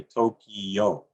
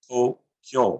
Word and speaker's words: Tokyo: The word Tokyo, we in the West will commonly say Tokyo. In Japan, it's said as Tokyo.